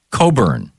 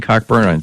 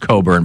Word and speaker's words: Cockburn: Coburn. Am I saying Cockburn? It's Coburn. It's pronounced Coburn, but it's spelled Cockburn.